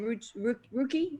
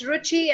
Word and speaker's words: Ruchi: Is it possible that you then take this fear that you feel And Ruki, is it Ruki? Is that pronounced properly? That's Ruchi and Vidhu.